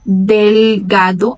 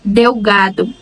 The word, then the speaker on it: delgado: Então, vai ser delgado a pronúncia dessa palavra. Em português, nós diríamos delgado. Mas em espanhol, eles respeitam a pronúncia de cada letra. E não importa se ela aparece no início, no meio ou no fim da palavra.